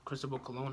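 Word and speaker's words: Cristóbal Colón: right there's even a personal notes of that Cristobal cologne hat all right that's how you pronounce his name all right well he couldn't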